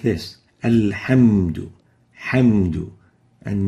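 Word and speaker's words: الحمد: Some people would pronounce the ha with a kha, al-khamdu, or with a ghain, al-ghamdu. And both are wrong. We should pronounce the ha as a ha, like this, alhamdu, hamdu, and not khamdu or ghamdu.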